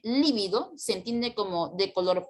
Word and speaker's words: lívido: Pero si se escribe con V, se tildará porque es una esdrújula, lívido, y significan cosas totalmente distintas.